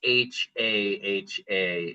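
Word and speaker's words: jaja: But, uh, you know, we talked about how the J makes the H sound. If you're texting ha to someone, you wouldn't use h a ha. In Spanish, you would say j a j aa because that would make the same sound.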